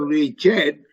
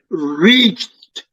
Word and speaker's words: reached: a c h d is not pronounced Richard is is reached that he is silent